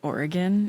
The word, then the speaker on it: Oregon: Um, it's pronounced Oregon if you don't want to get haters.